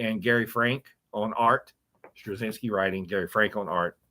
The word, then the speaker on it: Straczynski: Straczynski writing, Gary Frank on art.